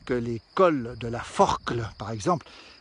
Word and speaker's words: Forclaz: les col de la forclaz par exemple ça s'écrit à z et on prononce jamais le z est rarement le à